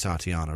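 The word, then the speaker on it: Tatjana: Tatiana White or Tatiana, I think it's Tatiana, right? The J makes a Y sound.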